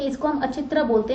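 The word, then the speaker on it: अहिच्छत्र: The northern capital was known as अचित्रा, ठीक है, इसको हम अचित्रा बोलते हैं, which is in Bareilly, modern day Bareilly में है ये, ठीक है।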